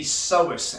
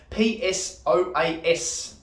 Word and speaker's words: psoas: And this muscle is called the psoas, and it's actually spelled P-S-O-A-S, okay? It's got a silent P at the front, psoas, all right?